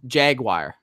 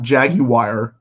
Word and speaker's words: Jaguar: Jaguars and somebody keeps coming how do you pronounce Jaguar Jaguar it's not jagwire okay I keep this this has happened more